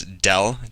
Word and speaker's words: del: this curly d uh I was told to pronounce it as Dell d l so this is read as d